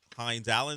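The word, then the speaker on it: Hines-Allen: Forget Josh Hines Allen.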